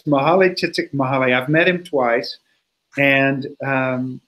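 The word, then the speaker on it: Mihaly Csikszentmihalyi: Did you just try to pronounce his name? Because I can never do that. Yeah, it's Mahalay Csikszentmihalyi.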